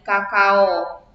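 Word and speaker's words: cacao: berubah menjadi usta contohnya penulisannya cacaw diucapkan atau dilafalkan menjadi Kakao Jola karena huruf C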